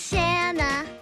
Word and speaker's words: Shana: what Shana is today my name is Shana it rhymes with banana and that's my friends